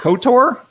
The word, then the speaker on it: Ktor: We'll be going through Quarkus with Apache Camel first, and then Josh is going to be doing Ktor, I believe is how it's pronounced, on Kotlin.